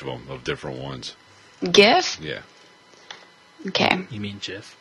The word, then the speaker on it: GIF: GIF? Yeah. Okay. You mean GIF? No. All right. Dude, it stands for Graphic Interchange Format. I know. I know. I'm using GIF. It's a hard G.